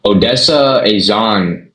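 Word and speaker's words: Odessa A'zion: Odessa Azan as Wonder Woman.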